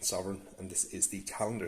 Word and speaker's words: Sovrygn: have it the sovereign unusual spelling but it i believe it's pronounced sovereign and this is the